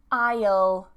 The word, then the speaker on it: aisle: Silent S. Aisle, aisle, aisle. This is also the same as aisle. Okay, like I will, aisle. Same pronunciation.